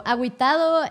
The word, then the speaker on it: agüitado: But because it has so you don't really say the U unless it has the dots on top of it. If the U has the dots on top, you pronounce it. So you say gui.